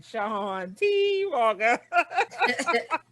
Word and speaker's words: Shawn Walker: And I say it like that because that's how he say his name, Shawn Walker.